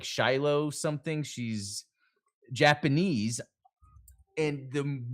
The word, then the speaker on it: Shioli: And it was maybe do Shioli or I might be saying her name wrong. Let me look. Um It's Shi- No, it's Shioli.